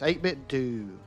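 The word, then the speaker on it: 8BitDo: 8-Bit Do or 8-Bit Dough? Do. That's what I thought. Kunma, that's right. It's 8-Bit Do.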